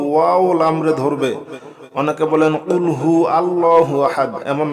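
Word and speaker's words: قُلْ هُوَ ٱللَّهُ أَحَدٌ: কুল না বলে যদি বলেন কুলহু আল্লাহু আহাদ তাহলে হবে খাও তিনি আল্লাহ এক দ্বিতীয় নাউজুবিল্লাহ এ কফ আমরা অবশ্যই গলার ভিতর থেকে বলব ঠিক আছে কুলহু আল্লাহু আহাদ কফ লাম পেশ কুল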